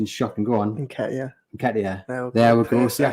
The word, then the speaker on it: Nketiah: Because we know my pronunciation is shocking. Go on. Nketiah.